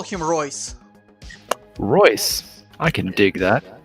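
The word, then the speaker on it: Reus: trouble with giving people names let's call him royce royce i can dig that nice it's spelled r-e-u-s okay it's the camera should be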